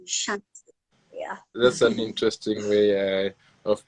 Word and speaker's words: Chantou: So Chantou, Bantu, like it rhymes. So if someone again, okay, I'm like, Bantus, Nilots, Kushites, So Bantu, Chantou, So that's my name, Chantou, That's an interesting way